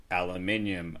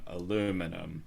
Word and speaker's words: aluminium: No, I used to love the whole, you say something this way or that way, and it's just like aluminium, aluminum.